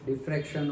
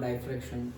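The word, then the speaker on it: diffraction: Okay, डिफ्रैक्शन और डाइफ्रैक्शन दोनों pronunciation होते हैं।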